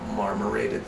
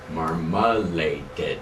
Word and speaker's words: marmorated: brown marmorated stink bug marmalade no marmorated marmarine I'm looking at it right here m-a-r-m-o-r-a Margaret marmorated I've been pronouncing it wrong for a couple years well that's probably because you thought it was some sort of orange Jam possibility yeah wrong okay never mind so it's marmorated uh stink bug this